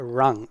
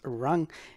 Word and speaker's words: RNG: the first one is going to be a rung and it's spelled it's pronounced wrong but it's spelled as